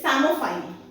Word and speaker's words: psammophile: Then the word for the year 2023 is Samophile. Okay. PSAMMOPHILE. The word P in this particular word is silent.